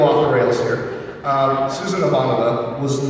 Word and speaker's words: Ivanova: Well, as you know, Bob, Claudia's classic character on Babylon 5, Susan Ivanova, was also made in Russia. Ivanova, sorry. It's also made in Russia. I was using the Czech pronunciation.